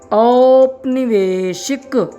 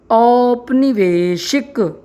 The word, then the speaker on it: औपनिवेशिक: जैसा कि आपने उच्चारण में सुना, यहाँ पर जो औ के बाद पा लगा है यह साइलेंट है। साइलेंट का मतलब यहाँ पर आधा पा का प्रयोग किया गया है।